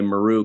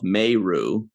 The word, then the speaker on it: Meru: when kira told meru by the way meru called herself meiru always drives me nuts when people pronounce names differently everybody called her kira maru and she was like she's like i'm meiru i'm like which one